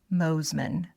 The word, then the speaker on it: Mosiman: I mispronounced your name. It's Mosman.